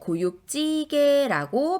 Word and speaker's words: 고육지계: 고육지게의 요 밑에 받침 기역이 뒤에 오는 지읒을 찌라고 발음하게 만들죠. 따라서 고육지게라고 발음해 주셔야 돼요.